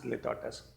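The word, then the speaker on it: litotes: Now coming on students, एक और बहुत ही इंटरेस्टिंग फिगर ऑफ स्पीच है, it is known as litotus. Okay, please mind the pronunciation. It will be spoken as litotus.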